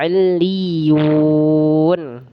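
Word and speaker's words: عِلِّيُّونَ: Sama kayak tadi ya, ada tasdid dia didouelkan li dan ya-nya. Jadi dibaca iliyun.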